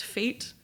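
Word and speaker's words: Feit: It's F Ei T, but it's pronounced Fate.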